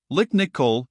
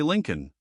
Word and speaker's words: Lincoln: Lick Nicol, replied Aslan, who, like the rest of the French, never could manage to say Lincoln.